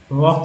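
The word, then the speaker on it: walk: वॉक का एल जो है साइलेंट है, हल्के में एल के कुक्का पढ़ते हैं, एल तो गायब है।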